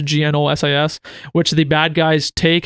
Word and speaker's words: Gnosis: plot point with a drug called Gnosis or Gnosis. I don't know, it's pronounced Gnosis, which the bad guys take, and whenever they overdose on it, they turn into demons.